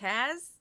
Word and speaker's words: Kaz: Kaz, not Kaz. Microphone Kaz. is free. Think like Cassie, like that kind of Cassie. like Thank you, Kaz with the Kaz. K-A-Z. Okay.